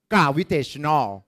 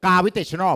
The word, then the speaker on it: gravitational: ภาษา อังกฤษ อ่าน ว่า gravitational ม้วน ลิ้น ด้วย ลูก gravitational ม้วน ลิ้น ด้วย ลูก อ้า เอา ลิ้น เอ้ย เอา ลิ้น แตะ เพดาน เข้า ต้น เพดาน ห้อง gravitational ดัง นั้น เรา จึง